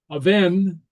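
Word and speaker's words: a' bhean: Okay, at the beginning of the word, the BH and the MH are always a V sound.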